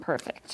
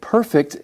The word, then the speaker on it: perfect: yet was definitely not perfect yeah eight that's right hey friends Rebecca mentioned the adjective perfect and you notice there is a slight pronunciation difference right as a verb it's pronounced perfect we hope to perfect